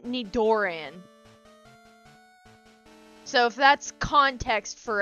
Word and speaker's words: Nidoran: I used to say for Nitaran Nidoran.